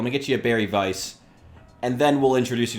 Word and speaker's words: Weiss: lining kugels Berry Weiss which is I guess Vice when you use the proper German pronunciation which for Warhammer seems